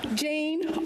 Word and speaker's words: Jan: Jane, also known as Jan, to rhyme with Stan, who is here today.